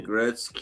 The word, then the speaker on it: Gretzky: I need to check out some more of React Poor, but Just This, think of Wayne Gretzky. You know, his name is that's the same way you pronounce those names that oh yeah, are yeah.